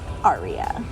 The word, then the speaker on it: Ariya: And it is in fact pronounced Ariya.